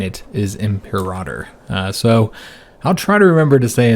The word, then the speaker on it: Imperator: Apparently I've been pronouncing that wrong. Now Imperator, from my understanding, is a pretty popular mispronunciation of the word, so much so that when you look it up, there's a lot of places that'll say that it's okay to say it that way, but apparently in Latin